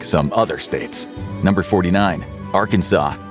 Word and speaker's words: Arkansas: unique accent gave us the unusual pronunciation of Arkansas. In the 1800s, one senator actually tried to make it sound more English, Arkansas, but by then everyone was already saying Arkansas, so the state passed a resolution making that the official pronunciation.